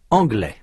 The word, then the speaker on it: anglais: des amis masculin endings masculin un jeune homme anglais féminin, une jeune fille anglaise.